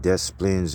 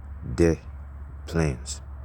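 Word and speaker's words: Des Plaines: to the Plaines the ples they call it death Plaines it ain't really I don't think that's how you pronounce it it's d s space bar Dash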